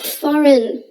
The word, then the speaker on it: foreign: job lastly we have foreign don't let that letter g fool you we don't pronounce it say it with